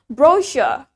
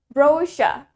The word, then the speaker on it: brochure: That's in British accent. Jadi itu di British accent. Kita bilangnya brochure. Brochure. The stress is in the first syllable. Penekanannya ada di suku kata pertama. And in American accent, sedangkan di aksen Amerika, we say it brochure. Brochure. Brochure. The stress is in the second syllable.